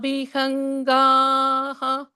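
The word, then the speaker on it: विहङ्गः: Yata vihangaha kusumopagudhaha. How do you say the visargaha here? Yatha vihangah. You say a ih there.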